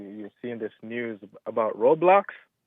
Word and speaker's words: Roblox: Roblox R O with a long O B L X online gaming platform and creation system by Roblox Corporation.